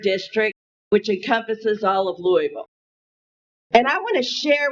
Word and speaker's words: Louisville: Louisville. The right way to pronounce it, right? King Louis.